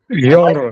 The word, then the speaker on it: genre: It is a French word. It is Genre.